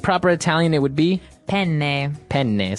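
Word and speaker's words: penne: pronounce uh we said pen in uh in English American English but in proper Italian it would be pen pen so you you you double pronounce the consonant yes what about fuini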